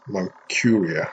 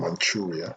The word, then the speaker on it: Manchuria: um the japanese army in moncuria or manchuria depending on your pronunciation it's spelt m-a-n-c-h-u-r-i-a and